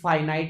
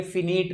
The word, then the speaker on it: finite: बेटा यहां लिखा हुआ है नॉन और बेटा इसका प्रोनाउंस फाइनाइट ही होता है, ये फिनिट नहीं होता।